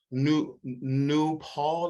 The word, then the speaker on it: Nupol: honor your name queen i believe this new new paul is how i pronounce it before i read yeah